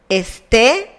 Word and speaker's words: esté: Estar is irregular because of the pronunciation. The intonation is in the last syllable, and that is why some persons in the verbal conjugation have a tilde. Esté, estés, esté, estemos, estéis, estén.